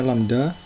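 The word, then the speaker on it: λ: M sama dengan jumlah jalur yang dibuka, dan simbol yang seperti Y terbalik ini bacanya lambda, itu adalah rata-rata tingkat kedatangan, dan simbol yang seperti U ini bacanya mu.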